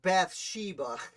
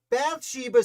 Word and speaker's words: Bathsheba: about to discuss uh i think it's pronounced bathsheba it's a pretty intense